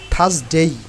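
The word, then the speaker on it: Thursday: এটা কি উচ্চারণ হবে থার্সডেই কারণ আর এর উচ্চারণ হবে না থার্সডেই হবে না থার্সডে থার্সডে আর এর উচ্চারণ will be skip here okay আর এর উচ্চারণ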